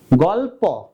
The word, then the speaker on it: গল্প: আমরা বলি গল্প তো এই ল টাকে আমরা নিচে হস চিহ্ন বা হসন্ত দিব তাহলে উচ্চারণটা হবে গল্প আর খেয়াল রাখবে উচ্চারণ